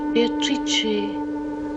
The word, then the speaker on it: Beatrice: There is a famous painting of Dante meeting Beatatrice. It is pronounced Beatatrice in Italian which makes it very beautiful.